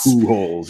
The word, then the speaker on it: Pujols: It's POO dash holes, HOLES. Pujols, yeah. Pujols, yeah. Pujols. So if I say that, you have to take the first letter of that person's last name, P, Pujols.